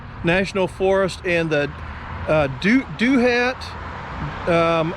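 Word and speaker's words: Douthat: the george washington national forest and that uh do hat um it's spelled d-o-u-t-h-a-t uh state uh park a beautiful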